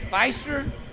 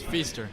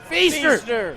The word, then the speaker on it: Feaster: Is it Feister? It's Feaster. Feaster.